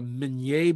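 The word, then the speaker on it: Minié: it's known as in the united states they pronounce it the mini ball but um it's actually the menier ball uh claude migney a captain in the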